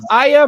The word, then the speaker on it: Aya: Who is Aya Brea, or Aya, if you want to pronounce it that way, from Parasite Eve.